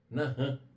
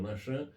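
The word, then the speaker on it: נחם: E a outra é nahan, ou nachan. Alguns pronunciam nachan, outros nahan.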